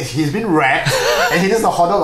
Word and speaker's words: REKT: I guess, although it's spelled REKT, that's primarily because millennials these days can't really spell to save their life. It's probably WRECK, wreck, like destroyed.